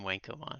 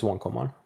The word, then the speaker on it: Wonkomon: Well, our friends in Britain love to call him Wankomon. So, Yeah, yeah, yeah. But based on the Eastern pronunciation of things, it's Wonkomon. sure.